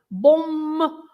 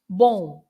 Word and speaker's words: bom: But if it's at the end, then it's not pronounced. It's not bom, but it's bon.